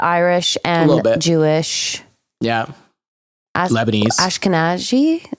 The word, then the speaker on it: Ashkenazi: Am I saying you Ashkenazi? Yeah. Okay. I think I think I'm sure there's a different uh pronunciation depending on where you're from and how you say it. But yes, that is it.